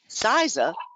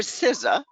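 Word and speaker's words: CISA: and cyber security strategies saisa or scissor depending on how you pronounce it suggests that business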